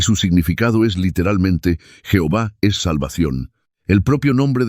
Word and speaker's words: Jehová: Lo que en español se pronuncia Jehová.